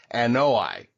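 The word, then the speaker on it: Anoa'i: So according to the website, according to the website I looked up, it's pronounced Anoi.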